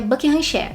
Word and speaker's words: Buckinghamshire: região de buenos aires na verdade é boca encher se escreve buckinghamshire mas cala a boca